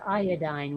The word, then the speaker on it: iodine: Well, it's definitely pronounced iodine. We proved this. It says it in like every dictionary.